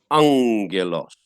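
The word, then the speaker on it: ἄγγελος: don't get lost so this double gamma i said to you we are going to pronounce as angelos um so the we're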